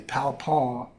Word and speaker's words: Palpant: Palpon is how you say my name in French.